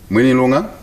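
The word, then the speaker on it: Mwinilunga: established offices in five additional districts namely moneylunga minilonga that's the correct pronunciation manilonga nakonde bala madam speaker zambia shall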